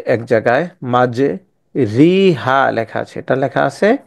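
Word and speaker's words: مَجْرٖىهَا: উচ্চারণটা জবর এবং জের জবর এবং জেরের মধ্যবর্তী স্থানে উচ্চারণ হবে রে উচ্চারণ হবে রে ঠিক আছে এটাকে আমরা বিসমিল্লাহি মাঝি রিহা পড়বো না এটাকে পড়বো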